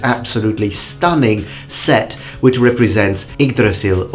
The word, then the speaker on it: Yggdrasil: stunning set, which represents Yggdrasil, or to be more correct with the pronunciation in Old Norse, Yggdrasil, the immense mythological tree that connects the 9 worlds.